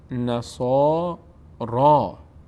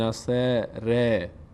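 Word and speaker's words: نصارى: میشه تعبیر اینطور میشه و نصا را نصا را نمیگیم نصر نصا را دهان به سمت بالا پر میشه به سمت بالا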